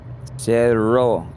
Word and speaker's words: Cerro: Cerro. You got to roll the Cerro. double R.